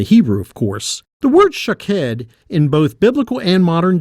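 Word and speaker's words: שָׁקֵד: variation on the pronunciation almond is shakhed and watches shook head but if you were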